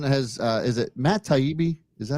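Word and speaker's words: Taibbi: so uh Elon has uh is it Matt taibi is that how you pronounce it yes you nailed it he's a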